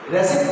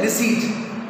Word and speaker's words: receipt: pronunciation नहीं आता उनको, रेसिप्ट नहीं होता, ये रिसीट होता है, रिसीट, P silent, the right pronunciation of receipt, RECEIT, not receipt, this is receipt, P silent, the right pronunciation is receipt, and the phonetic symbol